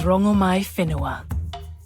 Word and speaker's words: Rongomaiwhenua: My name is Rongomaiwhenua. Oh! We've been mispronouncing you the whole time.